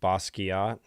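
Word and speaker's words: Basquiat: Bosuat pronounced like a K, not a Q. Bosot.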